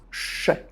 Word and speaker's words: je: One of the most common is when subject pronoun je is pronounced sh.